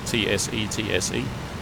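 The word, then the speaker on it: tsetse: have you pronounce it that seat see like tse TSE which is like an African sleeping fly I think and they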